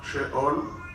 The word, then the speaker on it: Sheol: Allá está arriba la palabra en hebreo Sheol. Así se escribe y así se pronuncia. Abajo puse la pronunciación Sheol.